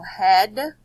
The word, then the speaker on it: head: don't follow the rule the ones that make this short e sound they all rhyme so head read head and bread rhyme dead so these three words rhyme and they all say the short e sound but they're spelled H EA D so you kind